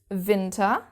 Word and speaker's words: Winter: winter in German is winter. So it's written in exactly the same way as you can see but we pronounce the W differently.